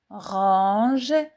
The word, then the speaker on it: range: Je range range. O N se prononce on on nasal. Les lettres A N donnent le son en en Je range ange.